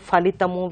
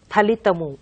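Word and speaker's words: ఫలితము: So some people say falamu, falitamu, which is quite wrong. So you should say only phalitamu, phalamu.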